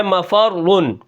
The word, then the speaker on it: مفر: اس کے بعد جو ہمارا کلمہ ہے وہ ہے مفرن. اب اس کے ہجے کس طرح ہوں گے، میم زبر ما فا را زبر فر را دو پیش رن مفرن وقفا مفر. اب یہاں پر دیکھیں میں